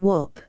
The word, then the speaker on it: Weatherstanhope: my dear old friend, the Duke of Weatherstanhope, pronounced Wop, I came across an old black letter MS.